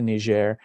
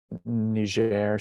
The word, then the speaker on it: Niger: really know anything about nigeria specific and niger is the french pronunciation which we prefer because it's a french speaking country but so i had